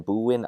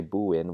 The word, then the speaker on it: búinn: boy that's talking then you're going to say boo in with two ends and if you're a girl then you're gonna say boo in with one end even though the pronunciation of these is identical and then a Lisa